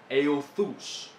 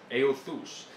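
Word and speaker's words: εὐθύς: Esa es una palabra en griego que se pronuncia euthus, euthus.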